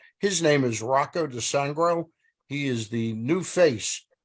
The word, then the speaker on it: DiSangro: Right on the money, Stan. Some people, they get me with DiSangro, DiSangria.